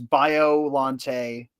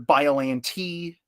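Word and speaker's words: Biollante: You can say it both ways. I really don't think it matters. Biolante. I've heard of Biolante.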